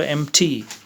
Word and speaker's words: empty: is empty EMP T why the P is not pronounced so empty victory yes what's the